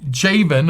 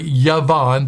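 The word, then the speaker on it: Javan: and the sons of javen of course it's actually yavon the jay is pronounced like a y uh or elisha and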